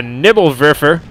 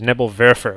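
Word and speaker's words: Nebelwerfer: all our viewers that the correct German pronunciation is Nebel verer with the w and I say everything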